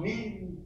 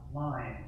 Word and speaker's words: mind: Các bạn không đọc là mean đúng không? Mà ta sẽ đọc gì? Đó là mind hoặc là gì?